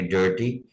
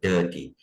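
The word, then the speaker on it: dirty: डर्टी में भी आप देखें आर नहीं पढ़ेंगे, अमेरिकन हल्का से पढ़ेंगे डर्टी, और ब्रिटिश तो बिल्कुल गायब कर देंगे डर्टी।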